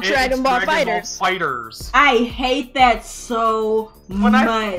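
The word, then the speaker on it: FighterZ: Like yeah, it's called Dragon Ball Fighters. I hate that so much. When I heard that was the way to pronounce it, I was so mad.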